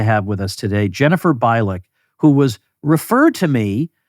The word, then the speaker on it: Bilek: is an interesting person am I pronouncing your name right no it's actually bck but nobody pron right everybody does everybody get that wrong yes everybody I